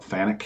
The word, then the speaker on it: Fanuc: I believe it's Fanuc. I always call it Fanuc, but some people call it Fanuc.